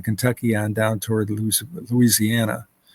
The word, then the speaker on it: Louisiana: on down toward Louis Louisiana or as they say down there Louisana two syllables all right um from